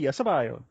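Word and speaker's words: Sabayon: I was very, very happy, and then I moved distributions to How we pronounce this again? Sabion, is it, or Sabion? Sabion.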